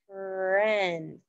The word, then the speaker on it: friend: e in it and you may think that the letters i e and friend would be pronounced i or e but they actually stand for the f sound friend it's not a friend or a friend it's a friend okay so i am